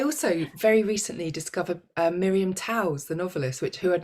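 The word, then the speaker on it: Toews: bigger menacing I also very recently discovered Miriam towels the novelist which who had not read before and she's fine oh Miriam Miriam saved she says how do you say it Taves Taves oh okay um and she was our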